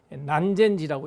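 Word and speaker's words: 南禅寺: 남쪽 남자에다가 참선할 선자인데 난젠지라고 읽습니다만 일본 어무로 남선사 절 같은 데 가면은 고려 초조 대장경이 있어요.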